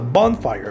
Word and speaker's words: bonfire: inglés bonfire bonfire otro sustantivo compuesto bonfire más fuerte la primera sílaba cucharada Cómo dirías cucharada